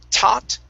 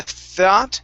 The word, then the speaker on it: thought: Okay, so practice that TH sound instead of taught. Okay, the thought, the TH is like a theta.